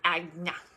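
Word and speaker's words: Ajna: It's spelled A-G, oh my gosh, I can't even spell it. A-J-N-A. There's one of my yoga teachers that says it all the time. She's like, Agna. I don't know if that's, I feel like that's weird, but that's probably how you say it.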